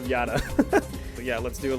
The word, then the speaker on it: Yata: It's not Mirror YASAKA, it's Mirror of YATA.